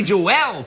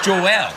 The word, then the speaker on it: Joel: Billy Joel, perhaps. Billy Joel is deeply sexual. Do you notice how I said Joel? It was that extra syllable Yeah, that I drove said Billy me wild.